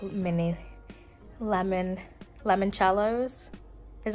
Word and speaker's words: limoncellos: her sister I got some like mini lemon limoncellos is how you say it limoncellos yeah oh